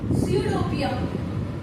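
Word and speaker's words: pseudopodia: करता है these are called सडोपिया ठीक है? पी साइलेंट है।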